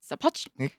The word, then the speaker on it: Sapochnik: Sapochnik? Sapochnik.